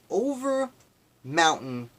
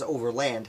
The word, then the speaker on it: Overmountain: a few times as Overland it is not Overland the Overmountain victory Association and what they